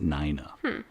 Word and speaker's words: Nina: It's spelt Nina. But they made sure, I think, in like most of the articles I read, to pronounce it Nina.